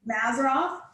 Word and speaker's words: Mazzaroth: Will you spell that for me, Miki? Mazzaroth.